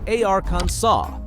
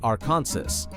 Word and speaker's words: Arkansas: Arkansas legally defined how to pronounce Arkansas in 1881. It's Arkansas, not Arkansas.